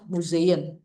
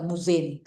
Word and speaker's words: Museen: inter oke good eh museen ya dibacanya nya mzeen tidak muzin musein e ada seperti Y-nya tapi halus aja oke Undan Nadia Escip